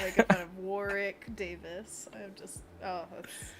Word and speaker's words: Warwick: potter what's his name warwick davis davis the middle w is silent oh apparently anthony knows